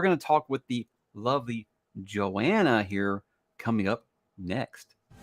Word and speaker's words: Johanna: have someone on who i called johanna for the first year that i knew her before i actually knew how to say her name but we're gonna talk with the lovely joanna here coming up next